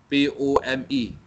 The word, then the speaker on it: POME: So Sime Darby have introduced what they call how they pronounce it, but it is POME, okay, POME, palm oil meal effluence, okay, the treatment, this form, okay, has been used.